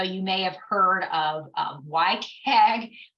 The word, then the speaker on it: WCAG: So you may have heard of WCAG. Don't ask me why it's pronounced that way when it starts with a W, but it is.